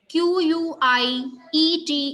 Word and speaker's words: quiet: QUITE is pronounced as quite. QUIET is pronounced as quiet, right?